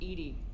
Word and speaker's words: EDI: why are you named Edie Ed is the phonetic pronunciation of E d i that is an acronym